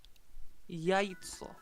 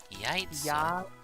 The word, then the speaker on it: яйцо: Яйцо. Яйцо. Яйцо. Basically, Y-A-Y-T-S-O. Яйцо. You know what that means? Egg. Mm-hmm. So you can say you punch them in the yaitso, or you could say you punch them in the miacha.